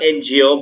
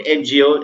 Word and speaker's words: NGO: works for a ngo you cannot say a ngo but because when you say end the pronunciation is this in okay so according to the pronunciation you're getting a vowel sound that of a so you say an ngo you cannot say a